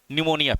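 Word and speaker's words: pneumonia: होती निमोनिया ठीक है निमोनिया पी साइलेंट रहता है इसमें ओके ये रंगली करेक्टली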